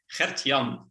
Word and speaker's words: Gertjan: yeah i will yeah for people from abroad my name is uh pretty hard to pronounce but it's hertian they're actually two names combined is that remotely close that